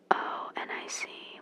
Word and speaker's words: chthonic: This is really testing my pronunciation. It's CHTHONIC, which means earth soil, because he's an earth soil god.